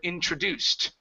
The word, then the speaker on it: introduced: da okay introduced so our initial stress is at the very beginning but we have a secondary stress right here introduced introduced there you go so instead of introduced okay with the stress here switch it so the teacher had